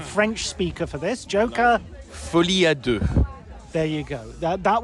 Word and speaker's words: Folie à Deux: Joker Fadu.